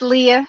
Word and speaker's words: Leah: Is it Leah or Leah? It's Leah. You said it correctly.